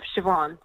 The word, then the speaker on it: Siobhan: Because my name is spelled in the Irish way of Siobhan. So it's S-I-O-B-H-A-N, like B for Bravo, H for hotel. It's sort of weird. So there is no S-H in there.